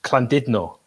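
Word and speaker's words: Llandudno: and Landudno is Clandidno, which is pronounced like that.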